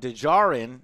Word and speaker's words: Djarin: Now it's actually Djarin, the last name is Djarrin, and I think this is most likely a reference to Django or Django, where the D is silent.